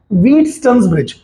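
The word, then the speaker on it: Wheatstone's bridge: मैं जिस खाली बता रहा हूं कि इसका राइट प्रोनाउंसिएशन है व्हीटस्टोन्स ब्रिज.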